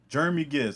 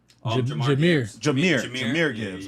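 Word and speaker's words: Jahmyr Gibbs: Jeremy Gibbs. I'm saying that right because it's spelled differently. John Marie Gibbs, a running back. Jameer Gibbs.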